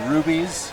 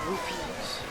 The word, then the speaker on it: Rupees: Rupees. Okay. It's a bit awkward, but I think it can be pronounced both, but I don't know. it's actually spelled R-U-P.